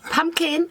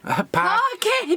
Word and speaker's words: Parkin: Pumpkin pigs. Pumpkin? Parkin! Parkin You pigs. still got Halloween on the head. It's spelled Parkin, if anyone wants to look it up.